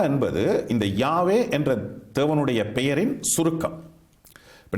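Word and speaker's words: Yahweh: பிரபலமாகிவிட்டது ஆனால் இன்றைக்கு ஆராய்ச்சியாளர்கள் இந்த ஜெகோவா என்பது தேவனுடைய உண்மையான பெயர் என்பதை ஏற்றுக்கொள்ள மாட்டார்கள் அது பிற்காலத்தில் ஐரோப்பியர்களினால் தேவனுடைய பெயரை அவர்கள் உச்சரித்த ஒரு முறை ஆனாலும் ஏசாயா 40 12 ஆம் அதிகாரம் எட்டாம் வசனத்தில் தேவன் சொல்கிறார் நான் கர்த்தர் தமிழில் அப்படித்தான் மொழிபெயர்த்திருக்கிறார்கள் இது என் நாமம் என்னுடைய நாமத்தை நான் வேறு எதற்கும் கொடுக்க மாட்டேன் எனவே தேவனுடைய பெயர் யாவே என்று நாம் உச்சரிக்கின்றோம் இந்த யாவே என்பது தான் சரியான உச்சரிப்பு என்பதை நம்முடைய தமிழ் கிறிஸ்தவர்கள் புரிந்து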